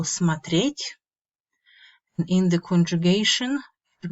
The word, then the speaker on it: смотреть: As you can see, the stress in the infinitive falls on the last syllable смотреть.